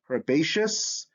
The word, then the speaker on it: herbaceous: what's the pattern here in words derived from latin see before the suffix eos sounds like shas so when i have